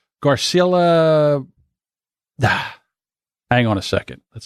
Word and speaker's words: Garcelle Beauvais: Garcelle Beauvais.